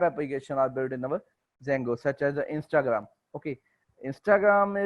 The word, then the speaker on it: Django: is our silent in our while we are pronouncing this name. So the name as a Django.